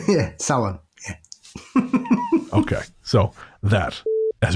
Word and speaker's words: Samhain: But it's not pronounced how Donald Pleasance pronounces it in Halloween. That's all I'll say. Samhain! Yeah, Samhain.